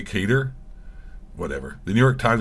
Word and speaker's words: Qatar: Al Udeid Air Base in Qatar. I thought you're supposed to pronounce it Qatar, but now people say Qatar.